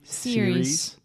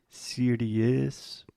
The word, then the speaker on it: series: Series. Nice. A lot of our students have the tendency to say something like serious because we have the IE at the end.